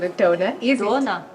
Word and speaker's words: Döner: Dona. Is that how it's Turkish pronounced? Döner. I don't know.